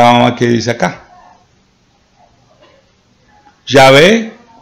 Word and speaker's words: Yahvé: Yahvé, según el Consejo Académico, es la pronunciación más probable del tetragramatón.